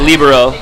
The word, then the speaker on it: libero: So I pronounce it libero. The word is Italian and it means free, and so pronunciation in Italian would be libero.